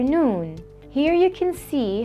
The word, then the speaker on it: نون: is the letter noon the letter noon is equivalent to the English letter N noon is easy to pronounce